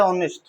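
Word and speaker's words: honest: तो ऑनेस्ट ऑनेस्ट नहीं बोलते। उच्चारण क्या है? ऑनेस्ट।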